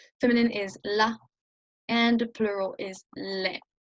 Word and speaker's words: les: le, you would say les tables, no, nothing in between. You do not pronounce that S, right? You write it, but you do not pronounce it because it starts with a consonant.